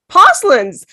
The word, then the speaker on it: Posluns: She is the founder of Cat School, and her name is Posluns. Welcome. Did I pronounce that properly?